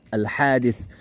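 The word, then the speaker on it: حديث: salah yang benar tuh hadis pakai t ya ada ts ya jadi dibaca hadis karena bahasa aslinya memang begitu ada sinin sin ada tsa ya alhadit hada sa gitu Jadi bacanya hadis gitu.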